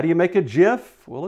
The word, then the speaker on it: GIF: post getting people's attention is animated gifs proper pronunciation is just not gifts jiff stands for graphics interchange format pictures these are